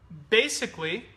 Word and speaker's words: basically: Yeah, if you use four syllables, it's unnatural.